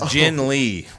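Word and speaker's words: Ginn Lee: So his name's Jin Lee.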